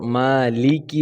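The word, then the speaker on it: مَالِكِ: রাহিম হা হ্যাঁ তারপর মালিকি বলবো মালেকে বা মালিকি কে কি টাকে আমরা স্পষ্ট করে বলবো ঠিক আছে ইয়াওমিদ্দিন তারপর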